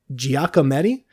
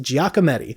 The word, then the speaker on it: Giacometti: Eventually, he switched to sculpture, and he found his penchant for Giacometti, I believe is how that's pronounced. Giacometti.